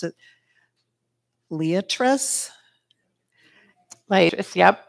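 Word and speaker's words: Liatris: I'm not sure how to pronounce it. Leatris? Leatris, yep. Leatris.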